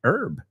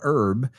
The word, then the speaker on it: herb: A very wise person and also an aromatic herb, right? A natural herb, as the British say, herb. Right? We say herb. Para nosotros, esa H es muda.